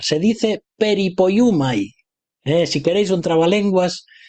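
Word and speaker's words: περιποιέομαι: y es una palabra un poco difícil de pronunciar. Se dice peripoyumai. Eh, si queréis un trabalenguas eh, teológico, soteriológico, aquí lo tenéis, peripoyumai.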